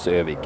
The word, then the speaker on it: Övik: Yeah, or the full name is Örnsköldsvik, but yeah, its shorter version is Övik, yeah.